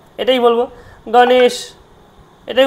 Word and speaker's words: গণেশ: উদাহরণ দেখতে পাচ্ছেন সবাই গণেশ গার মর্ধন স মধ তালব এটা তালব তাহলে গণেশা উচ্চারণ গণেশা তাইতো উচ্চারণটা হবে কি গণেশা গণেশ বলব না কিন্তু গণেশ গণেশ নয় গণেশা কি বলব গণেশা দেখুন গ এ তাহলে